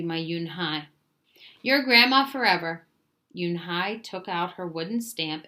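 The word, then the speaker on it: Unhei: "Yes, it's pronounced Yunhai." "And it means grace," Mr. Kim Kim added. "Younai," Joey said slowly, and this time perfectly.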